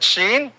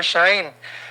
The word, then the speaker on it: Shein: Yes, other pronounces that Shein, or Shine.